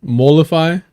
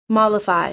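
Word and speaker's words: mollify: Mify. That one's nice, too. Molify.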